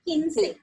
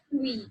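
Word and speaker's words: quince: Okay, but you can see here the spelling is like QUI. So that will be ki and no and then say. So that will be kinse. We don't have to pronounce it like kui.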